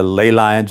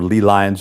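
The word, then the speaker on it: ley lines: So you know this leads directly into lay lines or leel lines as they're pronounced um torsion field energies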